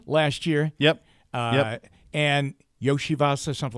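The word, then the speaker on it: Iosivas: year yep uh and Yoshi vas or something like that that Andre yosias yeah I was just going to look up the pronunciation I think Yoshi vas is correct y there you go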